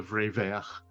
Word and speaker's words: vrai vert: for like true and green together, like the vrai vert. It's like a cool double V sound name. That's cool. Can you spell that type-wise?